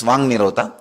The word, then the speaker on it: Vak Nirodha: Vak Nirodha only, when you pronounce it becomes Vang Nirodha.